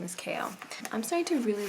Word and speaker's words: Chaol: I would not think that is pronounced Kale, but I looked it up and apparently his name is Kale.